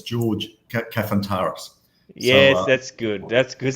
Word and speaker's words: Kafantaris: ask siri uh you're going to get a pronunciation i can't even understand but mate for everybody else it's george cafantaris yes that's good that's because that's what i